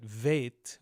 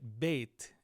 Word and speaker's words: Bet: Now, as for how to pronounce this letter, some people will say we call it vet with a V when it doesn't have the dages. Most people will still call it bait and they'll just distinguish